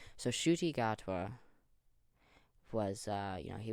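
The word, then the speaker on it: Ncuti Gatwa: pronounce it yeah shoy okay so I've been pronouncing it terribly wrong so shoy gotwa was uh you know he was in Barbie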